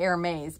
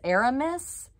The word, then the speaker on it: Aramis: it is in um i was going to say air maze because it looks like that but it's aramis and air maze is actually spelled like hermes so this is a-r-a-m-i-s new